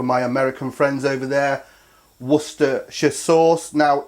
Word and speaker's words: Worcestershire: Worcestershire sauce. Now, if you say it how this is spelt, Worcester, and then shire, and say it together, Worcestershire sauce.